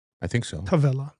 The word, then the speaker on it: Tavella: Tavella, not Travella. Travella is a soccer move.